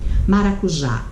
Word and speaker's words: maracujá: É quando a última sílaba é tônica. Maracujá, olha a divisão. maracujá.